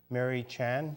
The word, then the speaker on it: Murray-Tjan: we have as our guest here today Laura Mary Chan did I pronounce that right yes you did awesome thank